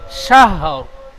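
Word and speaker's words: شهر: আলফি শাহ, শিন হা র জবর শাহর। তিন হা র জাবার সার, সার, সার নই, শাহর, শাহর। সাহ সাহ শাহ, লাস্টে র, যেমন র উচ্চারণ করতে গেলে ঠোঁট দুটি গোল হয়, র র, ওই রর শেষে রর মতো ঠোঁট গোল করবেন।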